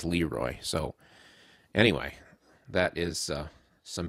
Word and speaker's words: LeRoy: It sounds funny to say LeRoy Holcomb in that case, because when it's used for a person's name, I've only ever heard it pronounced as LeRoy.